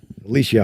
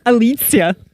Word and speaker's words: Alicja: Alicia. And I pronounced that perfectly, didn't I? You know what? Didn't I? Well, actually, you don't. Oh, geez. See? It's Alicja.